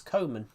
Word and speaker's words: Koeman: Koeman means Koeman. Yeah, I know. But in the pronunciation, it's Koeman.